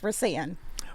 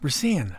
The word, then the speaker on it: Rasan: And it's Rasan. Rasan.